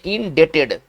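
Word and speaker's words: indebted: पढ़ेंगे ना India TET इसमें भी साइलेंट होगा थोड़ा ध्यान दिया जाए इसमें बी को नहीं पढ़ेंगे इसका उच्चारण पढ़ेंगे इन डेटेड इसका उच्चारण पढ़ेंगे इंडिकेटेड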